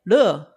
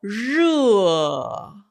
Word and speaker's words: 热: 많은 대만 사람들이 热 하지 않고 그냥 편하게 热 이런 식으로 하는 사람들이 많이 있습니다. 중국에서는 卷舌音 굉장히 분명합니다. 중국에서의 덥다는 혀 올라가서 热 이렇게 해야 합니다.